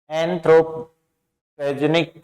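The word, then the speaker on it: anthropogenic: एंथ्रोपेनेजिक, एंथ्रोपेजेनिक, एंथ्रोपेजेनिक होता है मानव जनित।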